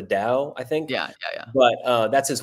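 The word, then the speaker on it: Tao: Lewis calls the the I think I think it's spelled t a o, but it's pronounced the Dow, I think.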